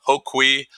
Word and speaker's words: Hoquee: my last name um so it's a hoqui um the correct spelling believe it or not